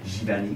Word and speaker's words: Giverny: Giverny.